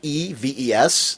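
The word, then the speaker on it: Neves: And the artwork, Diogenes, I'm not going to mispronounce it. It's Nieves, this interior artwork that's for the upcoming issue, the Blackest Night Green Arrow number 30.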